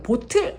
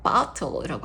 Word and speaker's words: bottle: Butle에다가 스를 붙여서 five bottles of milk butle이에요. 보틀 하지 마세요. botle이라고 할게요. 우리는 botle. 그다음에캔 단위도 있겠어요.